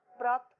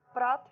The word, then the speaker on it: प्रातः: ठीक है, प्रातः मैंने बोला, प्रातः बोल रही हूँ मैं, लास्ट में क्या आ रहा है कि उच्चारण आ रहा है ना है का, तो इसीलिए जो है विसर्ग जो लगा दिया हमने, विसर्ग के स्थान पर जो है की ध्वनि आपको सुनाई देगी, प्रातः, फलतः, अतः इत्यादि।